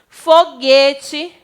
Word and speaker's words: foguete: foguete e águia certo uma coisa interessante que eu quero que vocês Observe vem na pronúncia escuta-se o som da vogal u quanto eu pronuncio quar que eu digo ao guaraná então escuta se a pronúncia do u já quando eu falo que houve a gente não escuta a vogal a durante a pronúncia foguete águia mais uma